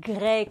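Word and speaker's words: Grey: cleave et ça raconte l'histoire de jamie gregg gré comme christian gré alors oui ça s'écrit paris mais ça n'a rien à voir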